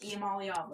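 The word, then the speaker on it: Iamaleava: know what you said but I know it's pronounced eala so you didn't even listen to what I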